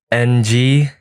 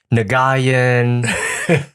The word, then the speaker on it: Nguyen: It is Nguyen. Doesn't sound like it, but How Nguyen. often do people mispronounce it? all the time. What do they say? They say Nguyen, Nagayan.